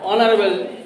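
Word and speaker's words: honorable: তাহলে অ্যান অনারেবল person, তাহলে এখানে অনারেবল হবে না, কি হবে? অনারেবল। খুব সাবধান উচ্চারণ করার সময়। তাহলে অনারেবল পারসন মানে একজন সম্মানীয় ব্যক্তি। এখানেও এইচ কি? সাইলেন্ট।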